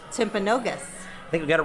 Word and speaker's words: Timpanogos: the name timpago timpagos you may be saying it wrong it's an indian name so any timpa goat timpagosa ask him again tim oh so it's tim pagosa timpanogos and the name is timpanogos i think we got